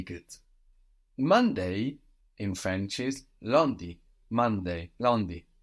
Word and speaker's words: lundi: So we have L-U-N. This UN is like in un peu, no, lundi, D-I.